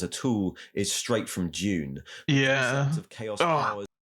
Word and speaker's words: Dune: A lot of Brits say June, as in like with a J.